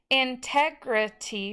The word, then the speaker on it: integrity: Integrity was 4 syllables, and it just is short vowels on each one, except for the Y at the end is a long E sound.